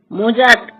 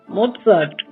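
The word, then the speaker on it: Mozart: আমি এসব সুরকারদের রচনা শুনিনি বটে কিন্তু এদের নামের উচ্চারণগুলো অন্তত আমার জানা আছে কিন্তু আপনার নেই। কিরকম? হায়দান মসড বেটফান। এই হলো আসল উচ্চারণ হাইডন মোট সার বেটফ্রেন্ড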